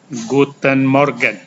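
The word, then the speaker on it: Guten Morgen: sampai kira-kira jam 10 kalian mengucapkan gooduten Morgan Guten Morgan itu artinya selamat pagi kalau kalian bertemu orang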